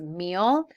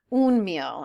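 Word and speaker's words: mil: habit for me so the correct way to say a thousand is meal it is not un meal and I just like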